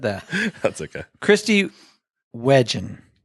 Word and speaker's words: Wetjen: The T is silent, and I still couldn't do it right. Anyway, Kristie Wetjen is here today to help us understand a little bit more about Newbo Market.